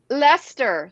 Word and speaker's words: Leicester: Red Leicester. Leicester. See, I was gonna pronounce it incorrectly.